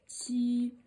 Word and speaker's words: 羌: And there's a qiāng, you pronounce it as qiāng, qiāng.